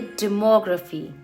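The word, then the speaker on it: demography: So whenever you find words ending in graphy, just remember stress last में graphy पे नहीं बल्कि उससे पहले वाले syllable पे होता है। तो इसको हम बोलेंगे फोटोग्राफी, इसको हम बोलेंगे डेमोग्राफी।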